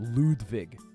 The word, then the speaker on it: Ludwig: ] temp the pencil I think it's okay lwig needs the extra time sorry it's pronounced ludig sorry ludig this isn't even good why am